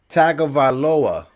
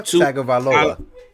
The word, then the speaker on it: Tagovailoa: See, I'm pronouncing names like Tutalula. Tua is I got his name. It's Tua. it's Tua Tagovailoa. Tua Tagovailoa.